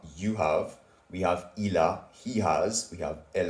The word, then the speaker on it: il a: Then we have, if you want to say he has, you would say il a, which is ILA.